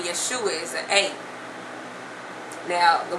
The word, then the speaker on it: Yeshua: to J okay and the fourth sound you will hear in the name Yeshua is the oo sound and you know when you know in English our our you can have different sounds to it so it's supposed to be the O like the o you were hearing the word true or blue but instead we get